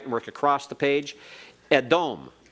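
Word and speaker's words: אֱדוֹם: Edom. Edom.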